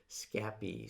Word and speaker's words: Scapy: it and he says how do you pronounce scappy we are in france we say scappy so i'm gonna go